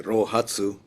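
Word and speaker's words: 臘八: And lo and behold, on the morning of the eighth day of the 12th month in Chinese, pronounc in Japanese way roatsu, it dawned on him literally what that was.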